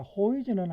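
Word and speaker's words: Häuser: 아 name호이즈 블로케 자 호이즈는 하우스의 복이죠 우 붙었기 때문에 여기 오이 발음 아닙니까 그죠 그다음에 블록은 알죠 예 영어식 막 표현하고 같다고 보면 됩니다.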